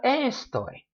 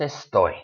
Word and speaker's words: estoy: a great example but a word like estoy two syllables it's not a story it's a story the stress goes on that last syllable so in general in